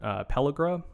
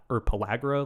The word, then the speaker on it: pellagra: it causes a condition called pellagra or pellagra. Like I've heard it pronounced both ways, and like that will kill you.